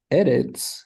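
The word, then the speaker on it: ארץ: But eretz is one of the exceptions, and so it really should have one of those stress marks up above it.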